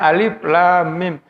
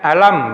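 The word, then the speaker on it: الم: Membacanya alif lam mim, tidak membacanya alam misalnya.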